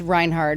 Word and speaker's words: Reinhardt: Herd. Reinhardt. Like hard.